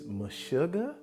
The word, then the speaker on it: Meshuggah: I believe it's MESHUGGAH. I believe that is the right pronunciation of the band's name.